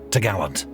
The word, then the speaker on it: topgallant: then the crosstrees, which secured the topgallant mast, pronounced togallant.